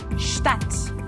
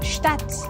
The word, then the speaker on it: Stadt: This one is about the sound of ST and SP in German. It's a very easy rule, but still, I hear a lot of people making mistakes when they pronounce the following words in German. So this is why it's still a very important rule. As an example, we have the words sprechen and Stadt.